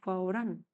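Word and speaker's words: फ़ौरन: Fa, mother of O, ra, na, fauran, fauran. Please focus on the pronunciation of the words.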